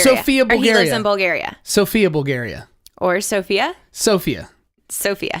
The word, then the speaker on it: Sofia: have this conversation earlier Sofia it's SOF I a it's the capital Bulgaria but in Bulgaria they call it Sofia Sofia so yeah so okay